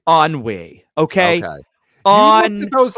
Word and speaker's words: Ennui: handle anxiety embarrassment envy and how do you pronounce this on we on Wei okay okay those letters and you didn't know